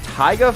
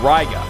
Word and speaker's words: Raiga: We got Taiga from Ninja Masters and Ken Masters. This could be something. Oh, Raiga. I said it wrong. Raiga. That's what he's called. Not Taiga.